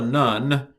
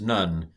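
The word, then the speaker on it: נ: bet gimmel dalit hey this is not a nun but this is none uh this is um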